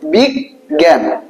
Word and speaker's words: বিজ্ঞান: কি বলো বিজ্ঞান বিজ্ঞান তাহলে প্রমিত উচ্চারণ এই যে তুমি সেভেনে যে প্রমিত উচ্চারণ শিখছো সেই উচ্চারণটা লিখতে হবে এটা কি বলো বিগ জ্ঞান তাহলে ব এর রসই গ এর নিচে হস বিগ এবারে যে জ্ঞান কি